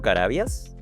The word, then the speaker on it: Carabias: de antofagasta hoy día estamos conversando con Diego carabias lo pronuncio bien Perfecto perfecto Cómo estás Diego mu